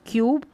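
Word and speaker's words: cube: जैसे क्यूब पढ़ेंगे, इसको क्यूब, कूब नहीं क्यूब।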